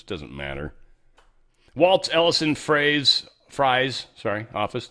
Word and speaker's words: Frey: This is how Bessent pronounced it or someone else. Fry is how they keep saying it. I think it was Steve Miller maybe that said it. I'm assuming it's Fry.